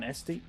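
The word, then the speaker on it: Etsy: was one that I saw I think on SD SD is how you pronounce it e-s-t-y and it looked pretty good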